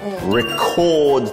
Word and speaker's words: record: 이거 어려운 게 첫 알파벳은 R. 그렇죠. 한글에 없는 R. Rock, rock, rock. 한번 해보세요. 약간 강해지죠.